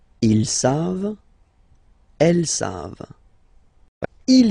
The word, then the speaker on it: savent: You don't pronounce it, so you get the sound savent.